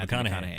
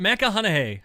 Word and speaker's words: McConaughey: And fantastic acting from Woody Harrelson and Matthew McConaughey. Yeah. You said his name right. Yay! I think I did. Yeah. I don't think I added the extra Matthew syllable. McConaughey.